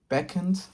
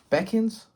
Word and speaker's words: beckon: The old man balcon beckons. Let me see how you say this word. Beckens.